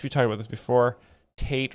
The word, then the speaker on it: Tate: Tate rhymes with hate.